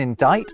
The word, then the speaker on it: indict: They would never to be pronounced B in plumber, a mute C in indict, a ludicrous L in salmon, and a stupidly silent S in isle.